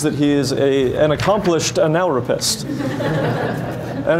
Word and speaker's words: analrapist: He also believes that he is an accomplished analropist. And it's okay, it's pronounced analropist, not the way you might be thinking.